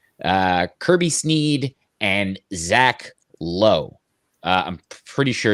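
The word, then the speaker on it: Logue: uh kevin smith uh kirby snead and zach lowe uh i'm pretty sure it's pronounced low even though it's like lugi like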